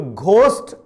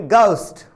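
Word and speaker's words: ghost: ठीक है, क्योंकि इंग्लिश जो लैंग्वेज है यहां पर कभी भी आपको घ की ध्वनि नहीं मिलती है। जी हां, घ की ध्वनि आपको नहीं मिलती है, घ का उच्चारण इसमें होता ही नहीं है। घ की बजाय आप ग का उच्चारण इसमें करेंगे, तो घोस्ट ना पढ़ें, इसकी बजाय आप उसे पढ़ेंगे गाउस्ट।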